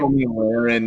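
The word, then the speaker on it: Tomi Lahren: Is that how you say her name? Tommy Lahren, yeah.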